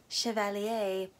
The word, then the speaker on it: Chevalier: last weekend my sister and I saw Chevalier she keeps calling it Chevalier so I kept calling it that once we watched the movie and Marie Antoinette said Chevalier we looked at each other and we're like